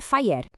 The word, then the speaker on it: FHIR: A pronúncia é FHIR.